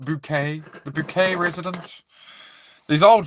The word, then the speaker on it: Bucket: Bucket. And she's she's like, "No, no, it's pronounced Bouquet."